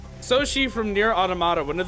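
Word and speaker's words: Sōshi: Soshi is uh the Japanese uh reading or pronunciation of his name.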